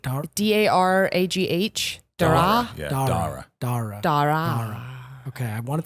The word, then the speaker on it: Daragh: Daragh.